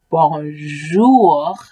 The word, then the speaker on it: bonjou: r over here f in french it's bonjour but in creole it's just bon jou so i know how